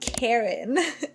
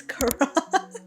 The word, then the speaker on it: Karan: And then he's like, "My name's not Karen. It's Karan.